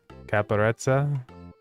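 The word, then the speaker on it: Caparezza: Caparettza. Yeah. With Italian, the two Z's, it's like an a T. It's like pizza, right?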